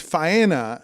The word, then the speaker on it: Faena: Fania? Faena? I always heard Faena. Well, he's saying Dania, and it's Faena, and those are two very different places.